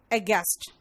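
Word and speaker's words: aghast: लेकिन यहां पे GHAST है, लेकिन इसका जो उच्चारण है वो गैस्ट हो रहा है, यानी फ्लैबरगास्ट, अगेस्ट, है ना।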